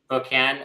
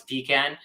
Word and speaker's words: pecan: very differently one can one way to pronounce this is perkan or other one is pecan so so the way